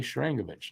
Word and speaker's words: Sharangovich: That's how you pronounce it, by the way, Sharangovich.